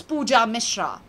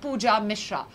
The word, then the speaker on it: Pooja Mishra: ban trolling ban cloning my name is easy and simple its pooja Mishra like I said not any of those which I said earlier but pooja Mishra so zoom in your